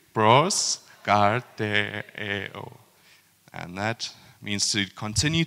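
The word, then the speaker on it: προσκαρτερέω: Pros karteo.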